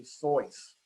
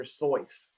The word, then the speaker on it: Seuss: name and it actually in german is to be rhymed with royce so it's actually soyuz and i'm sure all